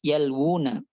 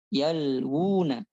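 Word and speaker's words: يلوون: Supaya dia dibacanya yalwun, dipanjangkan, bukan yalwun gitu. Yalwun enggak gitu.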